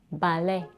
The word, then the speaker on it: ballet: comes from French and in French it's pronounced as balet this is an example of a French word that ends with a stress vowel a when such a word is adopted to English its corresponding and vowel is often theong a is in day ballet ballet is a two syllable word with a primary stress on the second syllable like in French it's